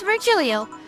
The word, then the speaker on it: Virgilio: It is pronounced deio. No, it isn't. Veryio. I'm going to call you Virgil and you can off. No, I'm pretty sure it's Virgilio.